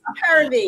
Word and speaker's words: Harambee: I said it wrong. It's Harambee. Harambee. Harambee. We practiced. I got it wrong.